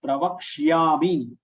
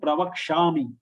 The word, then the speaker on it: प्रवक्ष्यामि: Here also most of the people will pronounce it as pravakshami. Ya is not pronounced at all. So you have to be careful that ya is pronounced, and it should be pronounced in such a way that the person who is listening should be able to make it out.